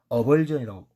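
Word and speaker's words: avulsion: 어벌전이라고 읽습니다.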